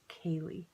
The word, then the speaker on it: Kaley: pretty Irish word and it's pronounced Kaylee and that's the sweater